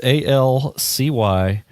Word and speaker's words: Alcyoneus: You have no idea how to pronounce that, do you? I do not. It's Alcyoneus.